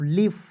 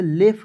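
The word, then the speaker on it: leaf: चलिए एल इ एफ लीफ। अब बहुत सारे दोस्तों का कंफ्यूजन है कि सर इसे लेफ क्यों नहीं पढ़ेंगे? लीफ ही क्यों पढ़ेंगे?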